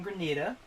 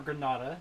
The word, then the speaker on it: Grenada: In Grenada, or Granada, depending on how you want to pronounce it.